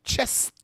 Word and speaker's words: chest: faster chest bella yeah you got to go chest and a little t at the end tracy yes chest ruby